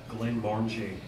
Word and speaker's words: Glenmorangie: Glenmorangie. Did you hear that? Glenmorangie.